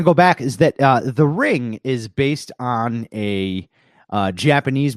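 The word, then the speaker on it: リング: think it translated to Ringu is what it's known as over here, but really in Japanese you wouldn't pronounce the U, it'd just be ring.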